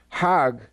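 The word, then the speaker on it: חג: Hag is the Egyptian pronunciation.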